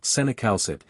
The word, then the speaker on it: cinacalcet: Cinacalcet, which you can pronounce as senacalcet, sensitizes the calcium-sensing receptor in the parathyroid gland to circulating calcium, reducing PTH levels.